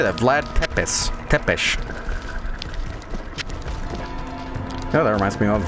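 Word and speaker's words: Tepeș: Tepesh.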